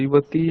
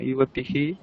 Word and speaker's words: युवतीः: युवती आददाति मूर्तेः युवती आददाति मूर्तिभ्यां না না, युवती ইবতী এইখানে উচ্চারণটা করো, নাহলে ইবতী বলেছো, ইবতী না ইবতীহি আদদাতি মূর্তেহে, युवती বিসর্গটা ही উচ্চারণ।